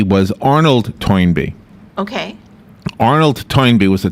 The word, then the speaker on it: Toynbee: R Us as in toy toin and then an N B like a bumblebe it's all one word t o y n be e e cool toin B was Arnold toin be okay Arnold toy was